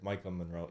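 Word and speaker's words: Maika Monroe: The actress Micah Monroe.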